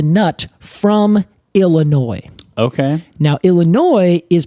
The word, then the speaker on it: Illinois: French it is yeah it's because it is named by the French initially yeah and I can